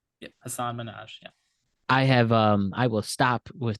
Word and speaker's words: Hasan Minhaj: Regardless, comedian Hasan Minhaj. That's his name. Yep, Hasan Minhaj. Yeah. I will stop with the mispronunciations today.